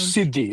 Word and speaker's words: Siddi: Tell me give us a little background about about these people the the sidis is that how you pronounce them siddhi siddi community the African diaspora generally